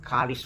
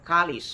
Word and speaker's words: kalis: in Spaniard the word kalis when they speak fluently the S at the end of kalis is not recognized okay K it's almost silent but the the spelling